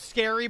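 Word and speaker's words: Scarry: it always was richard scary but it's yes it's pronounced scary but it's two r's you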